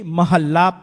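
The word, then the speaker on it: ਮਹਲਾ: So just remember that the correct pronunciation is Mahalla. It has been coming from day 1 until today in Harmandir Sahib, in Akal Takht, everywhere they pronounce it this way.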